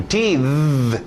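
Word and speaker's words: teethe: Agora existe o verbo to teeth. E transformou aquele de sapo para o th.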